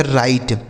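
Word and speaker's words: write: तो यहां देखिए डब्ल्यू के साथ आर है ना तो यहां डब्ल्यू साइलेंट हो जाएगा। मतलब इसे नहीं पढ़ा जाएगा। आर आई टी ई इसे पढ़ेंगे राइट।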